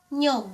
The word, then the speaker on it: niyog: But most of the time we pronounced it as nyog.